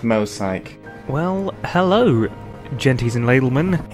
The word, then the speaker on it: Mosaic: Hello everyone, welcome to Mosaic Gaming. Hi everyone. Wow, making some Mosaic Gaming videos. Emil, it's pronounced Mosaic. Don't listen to anyone else, it's Mosaic.